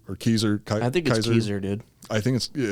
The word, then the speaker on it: Caesar: i should be saying kaiser or keyser i think kaiser dude i think it's yeah i think it's actually kaiser that's the way the germans pronounced it and the germans did